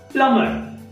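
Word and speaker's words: plumber: ठीक आहे, तर त्याच्यानंतर बघा की प्लमर, प्लमर, प्लमर, क्लाइमर, क्लाइमर, सकाउंट, सकाउंट.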